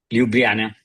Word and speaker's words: Ljubljana: ¿Cómo se pronuncia? Ljubljana, Ljubljana, eso, Ljubljana.